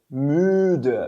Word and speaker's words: müde: A gente pronuncia ele müde, beleza?